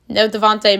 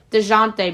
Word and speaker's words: Dejounte: DeJounte Murray. I knew I was pronouncing his name wrong. I was like, that's not right.